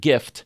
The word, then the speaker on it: GIF: If you agree with me, you'll select a sticker that says it's pronounced with a hard G, like the word gift.